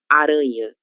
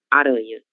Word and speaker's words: aranha: Basta nós pronunciarmos como se houvesse a letra N no meio dessas duas vogais, ok?